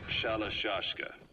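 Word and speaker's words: Shalashaska: The guerrillas were using the name amongst themselves, and by the time I got to hearing about it, pronunciation had wound up as Shalashashka.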